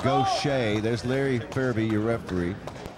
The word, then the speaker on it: Gausha: terrell um you see his name is spelled g-a-u-s-h-a and it's pronounced go shay there's larry furby your